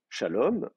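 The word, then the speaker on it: שלום: C'est-à-dire que si je dis shalom et que je m'arrête là, il y a pas de problème. J'ai le temps d'accentuer ma syllabe. J'ai deux syllables. Shalom, c'est la dernière qui est accentuée.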